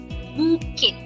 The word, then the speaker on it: bouquet: And the word is pronounced as bouquet.